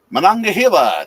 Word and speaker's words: Monongahela: Monongahela. That's pronunciation, by the way. Oh, did I actually get that right? Yeah. I was kind of Monongahela. Or Hela. Either one's probably appropriate.